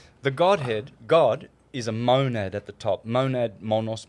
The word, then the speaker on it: monad: Monad is the name? Yep. Mon. the How do you monad. spell that?